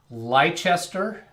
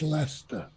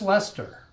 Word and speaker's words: Leicester: just lester we did the c in the middle is silent yeah okay that's that's